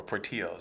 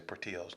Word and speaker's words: Portillo's: how you say it or Portillo's I heard people say proteos that are not from around here but yeah sorry all